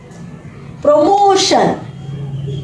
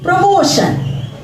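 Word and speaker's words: promotion: प्रमोशन प्रमोशन देखा बच्चों आप लोग अगर टी के बाद आई ए आई ई आई ओ आदि वर्ण दे रखे हो तो टी की ध्वनि क्या हो जाती है श श टी की ध्वनि श हो जाती है हमारा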